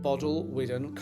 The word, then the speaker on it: Bodelwyddan: But, first, let me give you some history of Bod Llwyfan Castle, which is how I learned to pronounce it.